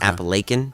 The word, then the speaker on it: Appalachian: know I'm sorry but Apple Aiken is spelled Appalachian but they pronounced an Apple Aiken uh-huh and so you